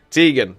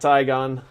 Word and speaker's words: Tegan: who didn't know my name's pronunciation Tegan I am Tegan not tygon I understand if you